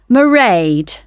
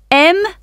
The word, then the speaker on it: Mairead: I won't be working then, so you'll see my assistant, Mairead. Sorry, how do you spell that? It's M-A-I-R-E-A-D.